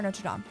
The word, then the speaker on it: Notre Dame: Is it Notre Dame or Notre Dame? I mean, I think the official pronunciation is Notre Dame. Notre Dame. But I think us Americans say Notre Dame.